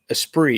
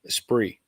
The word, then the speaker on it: Esprit: that's what it was esprit esp rit esprit yep garnish they said it was a formula with a regular hood esprit yep and there was a t in there but it's a silent t i knew the t